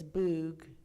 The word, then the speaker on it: Bug: There was a river, and some of you might know that river, and I'm going to say it like an American, the Bug River, but it's Boog.